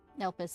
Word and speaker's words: Elpis: Elpis is how you say it. Oh, I say Yet ellipse.